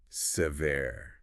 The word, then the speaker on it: severe: The first syllable is a schwa sound. Yeah, that's like a very short sound. Right, and the stress is on the second syllable, ver.